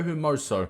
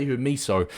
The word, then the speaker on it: Hermoso: fernandez and mario marso there you go mario hermoso that's how you pronounce i was going to say you're miso but i'm like there's no e in it